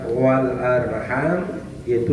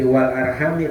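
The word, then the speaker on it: والأرحامِ: Catatan dalam Jalalain bahwa kalimat wal arham itu satu qiraat dibaca jar. Jadi wal arhami bacanya, bukan wal arham.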